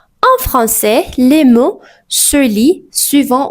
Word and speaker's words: français: À la combinaison de A I se prononce généralement comme E. Et n'i pas e aï et par exemple on dit français.